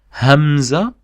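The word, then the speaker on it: همزة: We call the name of the letter is Hamza. Hamza, spelled like that.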